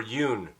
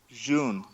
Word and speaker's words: Jun: Is it June or Yoon? June. June. As in the month. The month. Is it Hoon? Is it pronounced like an H? It's June. Like the fucking month.